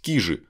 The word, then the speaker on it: Кижи: и вообще легендарное место ударение правильно на первый слог то есть кижи они кижи как вы привыкли называть поскольку